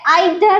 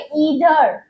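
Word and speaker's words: either: इ आई तो ई receive feeling इधर इसे आइदर नहीं बोलना है इसे ही बोलना है इधर इधर और ओके इ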